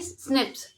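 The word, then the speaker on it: SNPs: मतलब सिंगल न्यूक्लियोटाइट पॉलीमॉर्फज़ जिसको प्रोनाउंस कैसे किया जाता है कि स्निप्स ये हमारे ह्यूमंस में अकर होते हैं।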